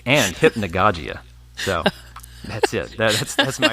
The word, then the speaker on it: hypnagogia: research I did was figured out how to pronounce hypnagogic. But it is hypnagogic and hypnagogia.